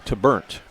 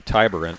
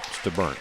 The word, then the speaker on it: Taburnt: number 35, is Quinn Taburnt. That's how you pronounce that last name. Taburnt? Taburnt, yeah. Okay. Talked to Coach about that. Looks like it could be Tyburnt, but no, it's Taburnt.